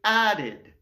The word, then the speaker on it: added: », ben dans ce cas-là, le ED se prononce id. C'est pour ça qu'on dit added.